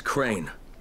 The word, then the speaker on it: Crane: no my name is crane crane crane rhymes with train and brain and sane and grey and rain and plain and the other kind of plain and and how can